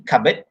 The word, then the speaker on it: cupboard: Even though you pronounce it with silent p, cupboard, but still you have to spell it with cupboard.